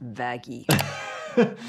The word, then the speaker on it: Vaggie: the best thing ever vagy it's pronounced vaggi big massive puncture wound